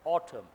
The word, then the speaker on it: autumn: British, summer, winter, spring and autumn. N is silent.